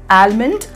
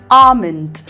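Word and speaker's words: almond: இதோடைய correct pronunciation என்னென்னா comment, kangaroo, fuel, ஆமண்ட், சாமன். இது ரெண்டில் எல் எல் இருக்குது பாருங்க, இந்த ரெண்டு எல்லுமே சைலண்ட். இது ஆல்மண்ட் இல்லை ஆமண்ட், சால்மன் இல்லை சாமன்.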